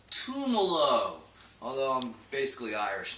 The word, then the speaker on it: Tumolo: Tumolo.